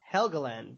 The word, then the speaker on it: Helgeland: like and but Brian and I I can't pronounce his last name. Heland. Yeah. He uh Helgand. Helgand.